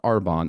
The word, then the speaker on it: Arbonne: In 2018, she was introduced to a company in the health and wellness space called Arbonne. I hope I'm pronouncing that correctly.